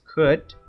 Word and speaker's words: could: you remember pronunciation is could the l is silent could you or would